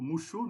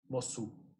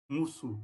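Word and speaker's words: Mosuo: foi para a tribo Mushu, não é assim que pronuncia? Mossu. Mussu, eu achei que era Mushu, não sei porquê.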